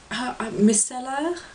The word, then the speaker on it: micellar: cleansing water it's basically my miscella is pronounced in french micellar water um very very